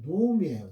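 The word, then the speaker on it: נעמי: 1장 19절입니다.이가 나오냐 하트 로미 예 나오미는 이제 한글로 나오미라고 했고요. 히브리어 원어상으로 발음은 노미예요. 노미 하저트 노미 본문은 의문사 하와 의문사 하와 지시대명사 여성 단수용 조트와 나오미로 연결되어 있는 의문형 형태예요.의 의문문 형태예요.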